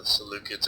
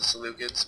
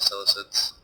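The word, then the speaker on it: Seleucids: I'm going to try to call them by their proper pronunciation. I believe it's the salucids, but I'll probably slip back into the solicits at some point because that's how I usually pronounce it when I am not thinking about it.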